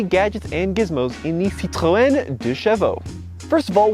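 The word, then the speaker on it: Citroën: have really corrected me apparently the french say citroen here in america we say citron in the uk they say citron however you want to pronounce it it is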